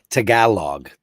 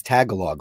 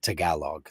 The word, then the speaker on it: Tagalog: I used to think it was Tagalog, like a Girl Scout cookie, but it's not. It's Tagalog. That's the thing.